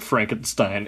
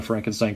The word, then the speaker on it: Frankenstein: And the great-grandson of Beaufort Frankenstein, incidentally, who I guess is the owner of the deed to the castle, the Frankenstein castle. Victor Frankenstein, as he likes to pronounce, not Frankenstein, as he points out numerous times throughout the movie.